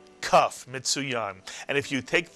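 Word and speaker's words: כּ: With a dagesh, it is pronounced as a K, a kaf.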